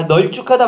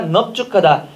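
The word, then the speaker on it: 넓죽하다: 아, 널죽하다 맞아요? 틀려요? 틀려요. 왜? 넙죽하답니다. 여덟 맑구나 밥지 넙적다리 맞고요. 됐죠? 자, 27번 표준 발음을 올바르게 표기한 것은 널죽하다가 아니라 넙죽하다, 얍지가 아니라 얄지, 훗지가 아니라 훌지, 맑고 맞고요.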